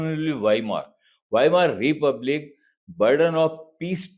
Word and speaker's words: Weimar: This is the pronunciation will be Weimar.